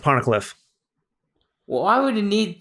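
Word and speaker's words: Poneglyph: P PFF PPH yep it's pronounced ponic Cliff well why would you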